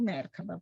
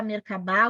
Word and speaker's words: Merkaba: Vocês podem ouvir falar Merkaba, Merkabah ou Merkaba. As 3 formas estão certas, elas estão relacionadas com a pronúncia está relacionada com a língua, tá? Ela é oriunda da língua hebraica, então tem várias formas